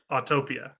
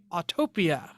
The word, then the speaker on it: Autopia: Autopia. excuse me, Autopia.